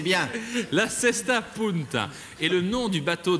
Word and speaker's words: Cesta Punta: Vous avez raison et vous le prononcez bien. La Cesta Punta est le nom du bateau de Magellan, une